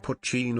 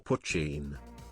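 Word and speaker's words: poitín: Irish moonshine is traditionally called pine, pronounced puchin or puchin.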